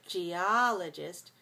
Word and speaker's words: geologist: person who studies geology is a geologist geologist so four two four syllables stress the second geologist geologist when we